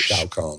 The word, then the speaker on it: Shao Kahn: You are, how do you pronounce it? Shao Kahn.